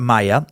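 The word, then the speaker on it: Maja: stuff to figure out how to pronounce a Maya spelled with a J M aja I ended up finding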